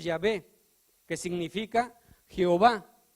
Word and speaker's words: Yahweh: vocales de Adonai y apareció el nombre de Yahweh, que nosotros pronunciamos Yahvé, que significa Jehová.